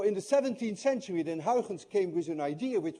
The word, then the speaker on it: Huygens: a very different way hin by the way is difficult to pronounce anyone of you who knows how to say hens correctly is also Dutch because you missed the i in your language and you miss the in